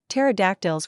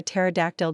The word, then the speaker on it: pterodactyl: Want to hear why you can't hear a pterodactyl going to the bathroom? He pauses dramatically. Because the P is silent.